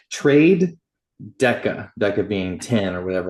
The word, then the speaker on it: TraDeca: It's trade Deca, Deca being 10 or whatever, like 10 pips, that foundational concept.